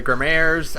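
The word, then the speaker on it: Gramarye: how you pronounce it it's spelled g a m a r y e and I know it's pronoun it's the name comes from the word grimoire like the like a gmor like a like a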